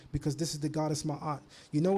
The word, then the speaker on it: Maat: it written that's why the most correct way to say Maat is actually mayat in the uh Comm IC tongue this arm gives you